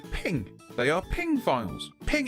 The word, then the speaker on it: PNG: swines did you know the PNG file format is pronounced ping they are ping files